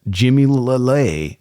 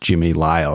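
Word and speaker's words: Jimmy Lile: knife made by the legendary Arkansas blad Smith Jimmy L lay even though it's actually pronounced Jimmy ly it's a call back to my ramble pods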